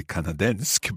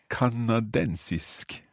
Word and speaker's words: kanadensisk: I was going to say kanadensk, but no. A different rule there. Kanadensisk.